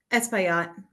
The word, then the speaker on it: Espaillat: She did a legislative internship under Congressman Adriano how do you pronounce his last name? Espaillat.